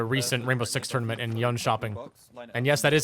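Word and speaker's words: Jönköping: Let's take a look at her pick rate throughout the recent Rainbow Six tournament in Yun Shopping.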